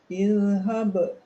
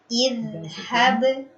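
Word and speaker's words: اذهب: Lalu pada pengucapan dzal sukun, idhhab. Boleh diulang Ibu? Idhhab. Jadi jangan terlalu tergesa-gesa. Ya.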